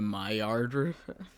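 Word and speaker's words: Maillard: word where it's like it's called like the Mayard effect and like it looks it's like spelled like similarly to that where it has two the two L's. You mean my pronounc the Mayard effect?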